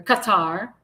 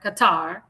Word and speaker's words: Qatar: He he said, "I've been asked by the Amir of Qatar or Qatar. That's how you say it. Qatar, not Qatar. Qatar. That's how that's how the Arabs pronounce it. It's Qatar.